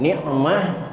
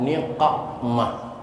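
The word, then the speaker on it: نقمة: Jadi mulai malam ini bacanya bukan wan ni'mah, tapi wan niqmah, Bu ya.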